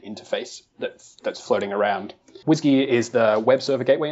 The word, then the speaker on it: WSGI: WSGI and some people may have heard it pronounced whiskey yeah I pronounce it whiskey mm-hmm yeah me see I'll do a I'll